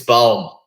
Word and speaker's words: Baum: Baum is good, yeah. Baum, as in tree.